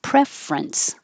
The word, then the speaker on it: preference: prefer prefer and preference we don't say the middle syllable instead of preference you can it's not wrong but usually make it shorter and have two syllables preference what's your preference preferential